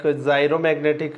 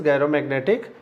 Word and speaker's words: gyromagnetic: gyromagnetic ratio okay so some of the teachers or the students pronounce it like zero magnetic ratio and the correct potential is gyromagnetic ratio okay q by 2m